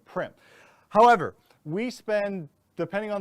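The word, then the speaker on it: Primm: Nguyen all right um people mispronounced Prim so obviously don't take offense to that p-r-i-m-m people say Prime all the time or Prim so anyways my name is primp however we spend depending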